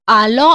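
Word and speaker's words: allons: With nu, it is alo, and it together pronounced as nous alo. That is when s plus a vowel meets the sound produced is z.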